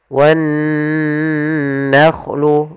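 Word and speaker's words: وَالنَّخْلُ: Cara membacanya ditahan dulu suaranya wan nakhlu, baru dilanjutkan ke gunnahnya.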